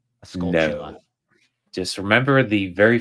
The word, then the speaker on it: Skulltula: It's not Plus, a you gotta Skolta.